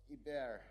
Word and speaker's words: Hebert: Is that correct pronunciation? Yes, Hebert.